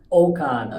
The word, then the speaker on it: Okon: Let's focus on the lady of the hour, Angie Marie Okon. Did I pronounce that?